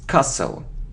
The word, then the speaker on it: castle: sour sour sour sour it isn't coastal no we don't pronounce is castle okay so you see